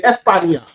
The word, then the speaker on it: España: They'll say España, even though it's not spelled with a YA. But that sound is still there. That ya in there is to say Spain, ya. Espan, and then ya, España.